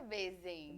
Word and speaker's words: Besen: Além de ser linda e super simpática, Besen, é assim que pronuncia? Bezen.